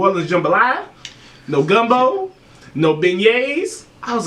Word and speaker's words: beignets: Unfortunately, we didn't try no beignets.